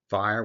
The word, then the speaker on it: FHIR: FIRE, what does it stand for? Fast Healthcare Interoperability Resources. And yes, it's pronounced FIRE.